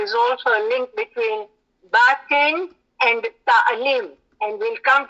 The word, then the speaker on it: Batin: And that means we must correct everybody's pronunciation, say that the word is actually Batin.